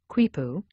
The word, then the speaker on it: quipu: device that looks like a mop the kuipu pronounced kuipu was an invention of the incas an ancient